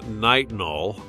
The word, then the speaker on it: Nitinol: Yes, it is pronounced nitinol. I didn't name it. It's not my fault that it sounds different than it looks.